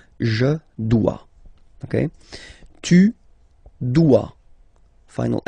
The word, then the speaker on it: dois: Okay, remember final S is not pronounced. Je dois. OI, when you combine the two, you get the sound wa wa wa. Je dois.